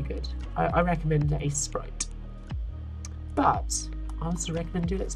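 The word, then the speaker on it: Aseprite: like the most is Ace Sprite. That's A-S-E-S, no, it's spelled strangely, it's A-S-E-P-R-I-T-E. That's really good. I recommend Ace Sprite.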